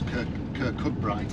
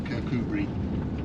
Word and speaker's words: Kirkcudbright: But if you look on a map, actually you'd say it was Kirkcudbright, but it's actually Kirkcudbright, pronounced Kirkcudbright.